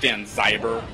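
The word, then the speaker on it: Danzaiver: for the wrath of Dan xaver I believe that is pronounced Dan zyber oh I'm sorry all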